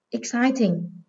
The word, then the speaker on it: exciting: Exciting. Từ này có hậu tố là ing, vì vậy các em xét từ gốc, đó là từ excite, trọng âm dưới âm tiết số 2.